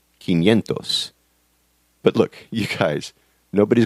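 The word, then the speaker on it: quinientos: a little different 500 is irregular and it's pronounced kentos but look you guys nobody's going to punch you in the mouth for saying Cinco Centos instead of kentos trust me on this one so you can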